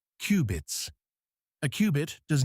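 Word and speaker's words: qubit: Instead of bits, they use cubits, pronounced cubits.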